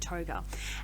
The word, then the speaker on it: Tougher: It looks like it says Tougher, but I believe that they pronounce it Toga.